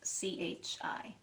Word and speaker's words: qi: word for energy and it's spelled q-i but it's really pronounced c-h-i chi and energy in the